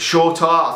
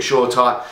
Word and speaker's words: Shoretire: one of them and short r i think that is how you pronounce it shorter i've always called it short time anyway them two could